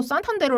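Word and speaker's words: Santander: 둘 수가 있는데 어 스페인 같은 경우 산탄데르 아고 읽고요 얘는 독일어입니다네 도이치라고 읽어요네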